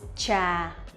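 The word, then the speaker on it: trà: bit different slightly different cha tr is a little bit stronger and the ch one uh it's softer and it's lighter cha so it's like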